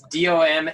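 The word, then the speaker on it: Domhnall: look like Dom hall oh but it's it's do m hn ALL silent h Dom no Dom DOM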